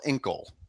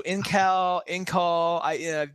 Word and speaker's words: Incal: If you spell Inkle. INCAL. So Inkal, there's different pronunciations.